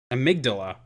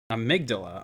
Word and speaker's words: amygdala: digress just real quick huh how do we pronounce that see here just so I don't look like an absolute bollard here amygdala amygdala okay well found that one out of your